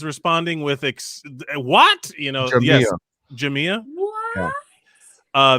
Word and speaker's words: Jamia: Yes, Jamia. What? Yeah. The accent is on the I.